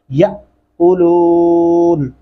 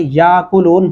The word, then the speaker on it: يَأْكُلُونَ: جائے گا جھٹکے سے، یَأْكُلُونَ۔ بہت سارے لوگوں کو اس کا پتہ ہی نہیں ہوتا کہ یا کلون پڑھ جاتے ہیں، جو کہ غلط ہوگا، درست تلفظ نہیں ہوگا، پورے کا پورا ترجمہ